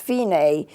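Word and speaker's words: Fine: it's belt if I am e but it's pronounced Fein a put that line there and that's the end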